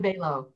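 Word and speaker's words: Balogh: Stephen Balow. Balow, okay.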